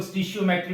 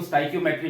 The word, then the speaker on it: stoichiometry: इसको कुछ लोग स्टिशियोमेट्री भी पढ़ते हैं, ठीक है, बहरहाल मैं इसको स्टोइकियोमेट्री पढ़ता हूं। तो जैसे आपका दिल करे स्टिशियोमेट्री पढ़ना चाहो या स्टोइकियोमेट्री पढ़ना चाहो, ठीक है।